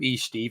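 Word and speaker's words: Estève: You're going to call him E-Steve. I think it's Esteve is how you pronounce it, but it's spelled E-Steve. Nice.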